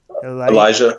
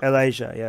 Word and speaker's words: Elijah: and you've always saying profit how do you pronounce his profit he l IJ aah Elijah Elijah okay prophet Elijah slaughtered ball priests yeah mob